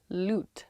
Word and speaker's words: lute: event next week absolutely yes 100 definitely absolutely loot like a loot l-u-t-e big rime the grime